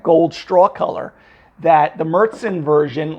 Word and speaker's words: Märzen: Again, remember, as I said earlier in the video, that's the Märzen style. Again, not Marzen, it's not pronounced Marzen, all right?